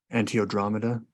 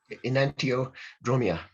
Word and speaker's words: enantiodromia: Do you think that if someone does not willingly go through the experience of Antiodromeda, I probably mispronounced that. Enantiodromia. So enantiodromia, yeah.